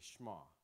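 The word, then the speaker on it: Shema: Whereas the Jews would say, they don't pronounce the e, they just say shma. We say the shama.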